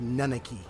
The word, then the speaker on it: Nanaki: was n yeah nanaki I used to call him the Naki but here it's pronounced nanaki wonder if I heard